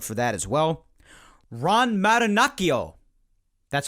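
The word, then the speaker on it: Marinaccio: that as well ron maranachio that's how i believe that's how you pronounce that name and looking at it as someone who speaks a decent amount of italian that's how it should be pronounced if it's not so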